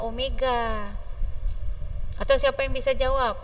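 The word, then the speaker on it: ω: kecepatan linier kecepatan sudut W seperti huruf v Tapi bacanya Omega atau siapa yang bisa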